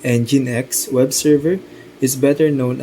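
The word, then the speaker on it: nginx: While it too can operate as a standard web server, the Minx pronounced NineX web server is better known as a reverse proxy server.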